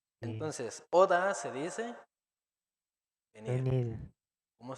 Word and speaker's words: 오다: Entonces, oda se dice venir.